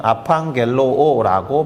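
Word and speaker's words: ἀπαγγέλλω: 발음은 아팡겔로오라고 발음합니다.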